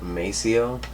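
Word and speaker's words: Maceo: name and it's um I think it's pronounced Macio um m-a-c-e-o um but basically he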